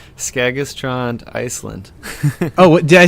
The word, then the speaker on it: Skagaströnd: And I hope I'm pronouncing this right. Skagaströnd, Ireland? No. It's Skagaströnd, Iceland.